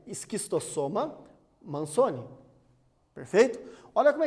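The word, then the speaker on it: Schistosoma mansoni: A pronúncia é esquistossoma mansoni.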